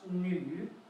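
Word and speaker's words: 女: And it's pronounced nu. Now, you can see the tone goes down and up.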